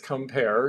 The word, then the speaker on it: Quimper: but this is compare q-u-i-m-p-e-r and yes I've heard people call it quimper but it's compare it's French and I'm sure the French would pronounce it more specifically and beautifully than I